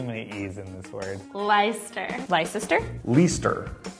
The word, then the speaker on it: Leicester: Leicester. Leicester? Leicester. Leicester.